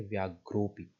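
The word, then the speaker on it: व्याघ्रोऽपि: दिखाई दे रहा है, इस चिन्ह का नाम है अवग्रह। और इसका प्रोनाउंसिएशन के टाइम पे इसका कोई प्रोनाउंसिएशन नहीं होता है, आपको इसे पढ़ते समय इसको इग्नोर कर देना होता है। आप शब्द को पढ़ेंगे व्याघ्रोपी।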